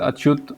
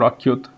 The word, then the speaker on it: ACYUT: The name of the robot is it can be pronounced as Achut or Achyut. It is spelled as ACYUT.